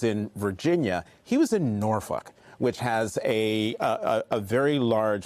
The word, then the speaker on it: Norfolk: He was in Norfolk, which has a very large veteran population, but also African-American population. That's how you pronounce it.